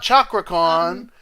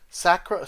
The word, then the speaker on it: Cakra Khan: say this sakura con it's not chakra khan c-a-k-r-a sakura sakura-con a lot of people